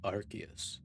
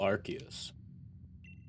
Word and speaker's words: Arceus: art here i am that which humans call arceus side note i prefer to say arceus but